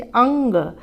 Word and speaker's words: अंग: अंग का एक बार आप उच्चारण करके देख लीजिए, अंग। जब आप अंग का उच्चारण करेंगे तो न जैसी ध्वनि साउंड आएगा।